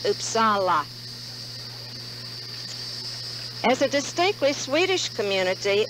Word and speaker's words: Uppsala: to sweden we discovered it's supposed to be pronounced uppsala as a distinctly swedish community new upseller would